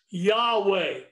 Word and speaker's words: Yahweh: it slowly together now when you see the word lord spelt with all capital letters that is the name of god we that pronounce yahweh so when you see